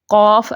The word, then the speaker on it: قاف: اس کو تھوڑا سا لمبا کر کے پڑھتے ہیں جب بطور حرف پڑھتے ہیں.